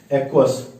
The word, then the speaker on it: aqueous: इसको क्या बोलते हैं इंग्लिश में, AQUEOUS, ध्यान रखिएगा, एक्वस।